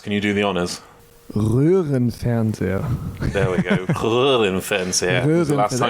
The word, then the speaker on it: Röhrenfernseher: Röhrenfernseher.